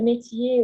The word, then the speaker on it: métier: Le métier, on ne prononce pas le R à la fin.